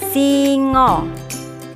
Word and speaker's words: singa: Jawa hewan ini disebut Singo tulisannya singa a-nya dibaca O masih belajar tentang nama-nama